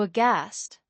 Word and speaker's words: aghast: The g h sound at the beginning is a ghost of the original Old English pronunciation, the same ghost you hear in words like ghost itself. So, aghast literally carries a ghost inside it.